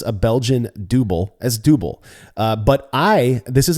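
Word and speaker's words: Dubbel: It's pronounced double. And I've watched numerous videos of people who are from that area who refer to it as double. So I've accepted that I was saying it wrong and have made the switch to double from double.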